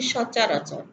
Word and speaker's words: সচরাচর: এবার সচরাচর, আমরা দেখো বানানে বলছি দন্ত স, চ রয়াকার, চ র, কিন্তু উচ্চারণের বেলায় কি আমরা সরাসর বলছি? আসলে আমরা বলছি সচরাচর। তাহলে এখানে দেখো উচ্চারণের সময় আমাদের দন্তসটা তালব্যস্বয়ে পরিণত হয়েছে।